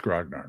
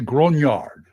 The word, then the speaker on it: Grognard: You know, and now people tell me I pronounced Grognard wrong. Oh well. Well, how you supposed to pronounce it? It's French. You're supposed to say Grunard.